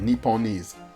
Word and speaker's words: Nipponese: Nipponese. Yeah, that's how you pronounce it.